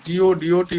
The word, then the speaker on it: Godot: In French, the pronunciation of the word G-O-D-O-T will be Godot.